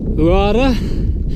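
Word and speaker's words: Huara: This is Uara. Don't pronounce the H.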